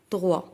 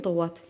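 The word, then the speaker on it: droit: تلامد بعض المرات تنطقوا دروا وتنطقوا هاد تي اللي عندكم هنا تي ميوت ما تتنطقش. هاد تي صامته وما عندهاش او. وانغل نو ماسكولين يعني انغل دروا ماشي انغل دروات.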